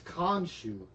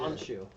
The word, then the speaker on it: Khonshu: That's Khonshu. The K is silent. Yeah. Honshu.